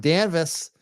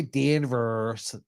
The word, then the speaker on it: Danvers: know most of them danvas don't say Danvers danvas it's not ha Hill it's havil havil what all right I gotta go yeah danvas exactly my family grew up in danvas I know how to